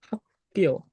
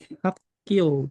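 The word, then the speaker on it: 학교: Rumusnya gimana? K-nya tetap dibaca K. Yang di sini berubah menjadi sang giok. Nah, dibacanya menjadi hakio. Hakio gitu ya. Jadi menjadinya hakio. Jadi nyebutinnya jangan hakio lagi ya, tapi hakio seperti itu.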